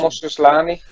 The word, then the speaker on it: Mush Aslani: I believe the pronunciation. That's the one, Mush Aslani.